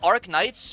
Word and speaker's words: Arknights: I wait is it arc knights or is it R knights because the K the K is presumed to be part of the word knights in which the K is silent.